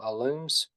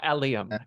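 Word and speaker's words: allium: Roots growing onions which I think are called alums if I'm pronouncing that right probably not oh alium alium okay yeah I'm doing roots and the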